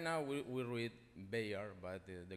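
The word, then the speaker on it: Béjar: The correct pronunciation for a Spaniard is Bejar, with a strong J, Bejar.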